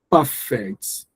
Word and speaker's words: perfect: So when it functions at an adjective, when it functions at an adjective, you you you stress the first syllable.